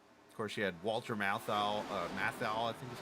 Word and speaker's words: Matthau: Of course, she had Walter Matthau, I think is how it... His last name's actually spelled like Matthew Weeks' name, but yet Matthew's Matthew.